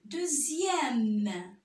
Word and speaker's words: deuxième: Dans d'autres cas, le X se prononce Z, comme dans le mot deuxième, sixième.